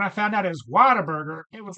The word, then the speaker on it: Whataburger: Anyway, so Whataburger, that's pronounced Whataburger, but if you're a true Southern with a Southern accent, you pronounce it Waterburger.